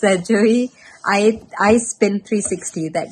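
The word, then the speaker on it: Joie: how it's pronounced j-o-i-e some people pronounce it as Joey some people pronounce it as Joy um I naturally tend to say this during whatever it is it's a Joey I I spin 360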